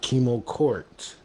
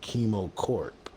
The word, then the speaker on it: Kimo Corp: Not Kimo Court, but Kimo Corp. And I get that a lot because I can't pronounce my P's correctly, but we definitely got a very awesome bunch in the house today.